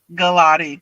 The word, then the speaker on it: Galati: Galotti.